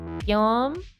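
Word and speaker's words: Guillaume: yeah it's pronounced like Yom it's like the French version of William gwilliam laughs wow it's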